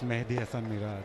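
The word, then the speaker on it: Mehidy Hasan Miraz: How do you pronounce that name? Is it Mahedi as well or Mehdi? No, that's Mehdi Hasan Miraj.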